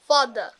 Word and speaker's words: father: আমরা যেমন বলতে পারি ফাদার, ফাদার না বলে আমরা কি বলি? Father. টিচার না বলে, Teacher. সিস্টার না বলে, Sister. ব্রাদার না বলে। Brother.